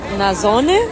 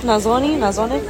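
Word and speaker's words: nasone: They just got rid of a stage today, and as you can see here, this is a Nazzone, I think that's how it's pronounced, Nazzone.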